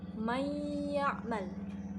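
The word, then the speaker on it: من يعمل: Cara membacanya yaitu dengan menggunakan gunnah 1/2 alif. Contohnya mayya'mal. Mayya'mal. Jadi ada nun sukun bertemu dengan huruf ya, dengan huruf digunnah, huruf idgham digunnah, maka digunakan selama 1/2 alif.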